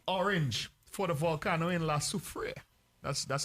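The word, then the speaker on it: La Soufrière: the alert to orange for the volcano in la superior that's that's how you pronounce it shandy yes lasso freya yes in the key thing that it could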